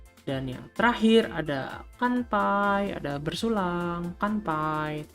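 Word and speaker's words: 乾杯: dan yang terakhir ada kanpai ada bersulang pantai Bidi bacanya Kampai Kampai karena ada huruf t h e high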